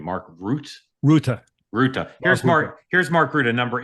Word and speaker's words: Rutte: How do you pronounce his last name? Mark Rutte.